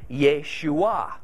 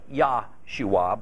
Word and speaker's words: Yeshua: of that name is Yeshua sometimes thought to sound like Yahshua but I don't think that's correct that name means God